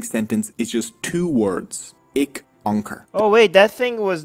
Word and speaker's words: Ik Onkar: Opening sentence is just Ik Onkar. Ik Onkar. Two words.